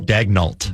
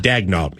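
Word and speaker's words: Daigneault: Dagnalt. Dagnalt.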